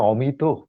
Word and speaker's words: অমিত: এই অমিত, আমার নাম তো শুদ্ধ উচ্চারণে অমিত।